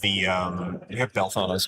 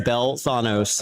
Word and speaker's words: Belthanos: You're the only guy I know that likes to call him Belthanos. That's how it's pronounced. No, it's not. There's an accent. Belthanos. It's like he works at Taco Bell.